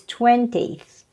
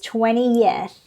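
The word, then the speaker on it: twentieth: Yeah, people pronounces, some learners pronounces as 20th. 20th. It makes sense, isn't it? Okay, however, the correct pronunciation of this is 20th, 20th, 30th, 40th, and stuff like that. Same thing. 3 syllables, not only 2.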